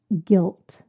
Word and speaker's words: gilt: Word number 9, guilt. Guilt. This is spelt G-I-L-T. It sounds the same as the word guilt, G-U-I-L-T, but this is a different word, different meaning.